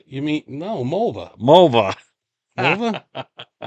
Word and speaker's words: Mulva: Mulva? Remember that in Seinfeld? Yeah, rhymes with a female body part.